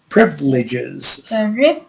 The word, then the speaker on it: privileges: and large privileges yeah privileges the stress is on the first subject yes yes privileges